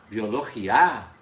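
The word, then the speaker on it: biología: Biologia. A minha vogal mais forte é o I.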